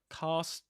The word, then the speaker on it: cast: Yeah, cast just like car or pass.